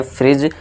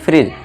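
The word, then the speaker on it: fridge: इसका भी correct pronunciation क्या होता है, उच्चारण क्या होता है, फ्रिज होता है, क्योंकि जी से पहले क्या है हमारा डी है, तो यहाँ डी साइलेंट हो जाएगा, उसे क्या पढ़ेंगे, फ्रिज।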